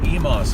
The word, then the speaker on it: Emmaus: getting off at either they say Emmaus Avenue but it's only spelled with one m my relatives calling it Emos Avenue so maybe that was the correct way American Girl said